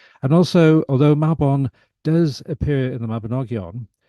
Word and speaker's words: Mabon: popular name I mean a lot of Americans pronounce it Mayon um so if you can have a go at pronouncing it maon you already tiny bit more authentic now we have to